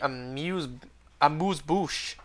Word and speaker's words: amuse-bouche: Failure is the amuse-bouche. Do I pronounce it S there? Amuse-bouche, isn't? No, I think you do pronounce the S.